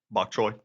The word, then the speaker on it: bok choy: Please pronounce it for me, because I'll butcher it. Bok choy.